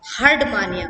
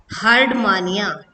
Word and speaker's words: Herdmania: अब हम जो पढ़ेंगे वो हम पढ़ने जा रहे हैं कोर डेटा का प्रथम जीव जिसका नाम है हर्डमानिया।